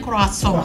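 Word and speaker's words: croissant: seri Kita pernah melihat mendengar kroasong Oh itu bacanya kroasong sudah kroisan kasong lidah Jawa kasong Kemudian Kemudian ada makarong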